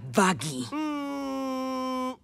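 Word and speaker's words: Vaggie: De hecho, se pronuncia Vaggy.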